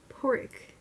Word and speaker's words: Pádraig: pronounce six other ones pádraig pod rig pork it's like pork I just how